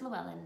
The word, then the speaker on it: Llewellyn: It's called How Green Was My Valley, and it's by Richard, and I'm going to say the last name wrong because it's Welsh. Do you want to say that? Llewellyn? Oh, it's Llewellyn.